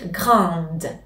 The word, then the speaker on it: grande: maison s'est féminaire alors nous devons ajouter un E et dire grand prononcez le D dans ce cas féminin et maintenant comme